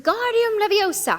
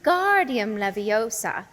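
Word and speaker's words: Wingardium Leviosa: much more Lu when guardium leosa he shouted waving his long arms like a windmill you're saying it wrong Harry heard her miny snap it's when guardium Leviosa make the gar nice and long you do it then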